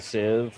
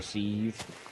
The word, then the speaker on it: sieve: to make a uh a sieve or a sieve i think both pronunciations are accepted um and then you